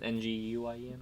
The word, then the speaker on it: Nguyen: It's pronounced Win. I don't believe you. It is Nguyen, right?